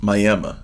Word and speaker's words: Miami: he doesn't give here Miami Oklahoma is pronounced Miami by the locals that one is one